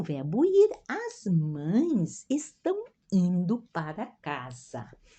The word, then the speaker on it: mães: o verbo ir as mães estão indo para casa ó observe a pronúncia de uma ent vogais né casa e a nasalização mães né como fosse a is s